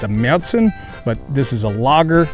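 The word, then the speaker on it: Märzen: of beer oktoberfest beer is a meltzen style beer or a martian style as some americans say it's a little darker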